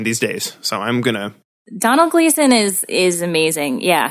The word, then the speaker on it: Domhnall: days so I'm gonna Donald Gleeson is is amazing yeah so yeah definitely how do you say his name I said it right Donal yeah you were talking